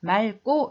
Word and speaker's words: 맑고: * 펴주세요 바로 뭐냐면 이율 기업 받침의 경우는 대부분 뒤 점 으로 발음 해요 그렇지만 뒤에 기억으로 시작한 형식 형태소 거울 경우에만 앞 점 으로 발음합니다 그래서 맑고 이렇게 발음 네요 여러분 한국 사람이